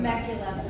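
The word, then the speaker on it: Temecula: I mean, I do want to note that this month there is a school in Tmicula, California. I might be mispronouncing Tmacula.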